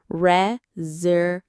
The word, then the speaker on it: reservation: reservation. The main stress is on the third syllable.